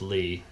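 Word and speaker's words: Leigh: back here this lake right here is called lee lake named for an early fur trapper that settled the area there uh richard beaver dick lee settled that area spelled lay but it's it's pronounced lee and richard beaverdick lee very interesting guy and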